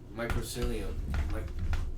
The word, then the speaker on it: mycelium: What if, like, because you've heard about that tree, that mycelium, I say it wrong.